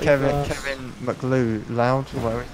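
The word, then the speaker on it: MacLeod: Like Kevin McLeod, whatever his name is. McLeod. McLeod, what's that? That's how you pronounce that stupid name.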